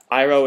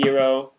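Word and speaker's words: Iroh: cultures were pronounced wrong aang is supposed to be on iro is supposed to be ero yeah that's what you're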